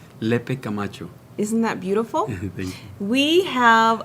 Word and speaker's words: Lepe-Camacho: your name because sometimes guess i don't quite pronounce it right le pe camacho isn't that beautiful we have a treat for